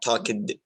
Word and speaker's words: talked: The letter ed, the letters ed can be pronounced as t, as just like just as in talked. Okay, talked. You don't say talked. Okay, or talked. It's talked, talked.